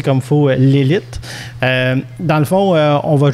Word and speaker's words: Lelit: déjà c'est pas souvent donc mettre d'accord s'est prononcé comme fo l'élite dans le fond on va juste faire un